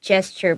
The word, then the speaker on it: gesture: 直讲的是 gesture 不是 gesture. Yeah, so it has a J sound.